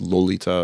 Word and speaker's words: Lolita: including Lolita which became or I guess actually pronounced Lolita according to him uh and you know